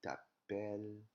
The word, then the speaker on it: t'appelles: Je m'appelle, tu t'appelles. So the S is actually silent.